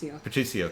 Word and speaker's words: Patricio: Sounds like Patrick, but it's Eo at the end. Patricio, thank you.